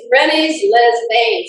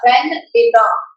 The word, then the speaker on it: Rennes-les-Bains: It's Rennes-les-Bains if you're English. Rennes-les-Bains.